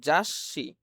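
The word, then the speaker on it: 雑誌: এর আগের অক্ষরের উচ্চারণ এবং পরের অক্ষরের উচ্চারণটা একসাথে মিলে যাবে। এখানে আছে যা আর এখানে আছেশি। তাহলে এই দুইটা একত্রে মিলে যেয়ে হবে জাসশি।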